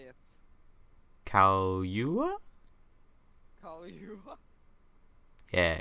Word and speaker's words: Kaluuya: Kaluuya? Kaluuya. Yeah, it's Kaluuya. That's how you spell it.